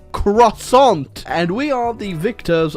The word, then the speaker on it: croissant: to France home of the croissant or if you want to say it correctly Mr French person croissant and we are the